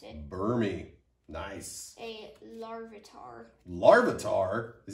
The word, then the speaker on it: Burmy: That's how you pronounce it. Burmy.